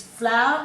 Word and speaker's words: flour: The flour that Mum cooks with, we say differently. It's flour, it's 1 syllable. This is flour, it's 2 syllables.